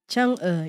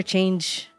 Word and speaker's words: Chang'e: Chang'e, yeah. Chang'e. Chang'e. I used to call her Change, but then I realized it's pronounced as Chang'e.